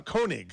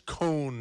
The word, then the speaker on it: Koenig: with mano kunig uh koenig i've uh i i asked him ahead of a time about the proper pronunciation and he told me it's cone c-o-n-e egg and uh here i